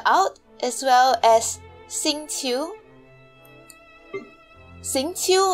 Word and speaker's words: Xingqiu: Xingqiu, I think. Yeah, that's the pronunciation, Xingqiu.